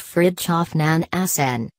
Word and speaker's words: Fridtjof Nansen: the 19th 20th centuries Fridtjof Nansen pronounced Fritjof nan hacen wore many caps during